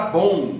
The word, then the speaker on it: bom: Tá aí um M escrito em posição final, que é claro, não vai ser lido por um brasileiro. A pronúncia normal no Brasil é criar um U que não está escrito e nasalizar esse U.